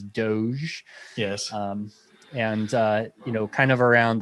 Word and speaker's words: Doge: tweeting about Dogecoin, and yes, that is how you pronounce it, is Doge.